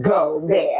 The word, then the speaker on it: Gobert: said Draymond Green chokes Rudy go pronounced go B I said okay I